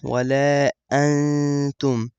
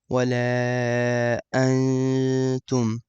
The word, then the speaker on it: ولا أنتم: So you don't pronounce the noon, ولا أنتم. You keep your mouth slightly open when you're saying it, and you kind of like skip the noon. ولا أنتم.